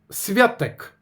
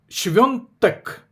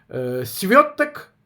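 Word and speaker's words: Świątek: Так як написано польською мовою, святек. Але свято по-польськи тоже пишеться свято, а читається свенто. Тому шонток, прізвища якої походить однокорінне з словом свято, свток святкова типа. Правильно вимовляти швнтек.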